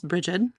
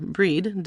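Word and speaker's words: Brigid: It's Bridget, or Breed, depending on where you live and how you pronounce things.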